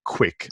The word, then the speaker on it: Quik: absolutely adore it, called Quick. It's spelled Quik, so Quick without a C.